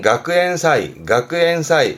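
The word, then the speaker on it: 学園祭: 그래서 발음은 가쿠엔사이. 그래서 대학의 축제, 대학 축제를 가쿠엔사이.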